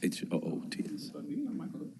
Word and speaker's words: Hoots: our next comment card is from Huts I'm sorry if I pronounced this wrong Huts h o o TS good evening and thank you for allowing us